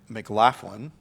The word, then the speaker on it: McLaughlin: November 22nd, we've got Hobby Hangout with Brian McLaughlin.